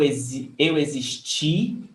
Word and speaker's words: existi: Eu existi. The stress is on ti.